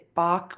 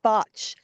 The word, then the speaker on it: Bach: It's Bach with a hard k sound, not Well, Bach. technically, if you want to know the real reason, it's called botch. Oh, okay. However, I'm in Israel, and so the Hebrew pronunciation is Bach.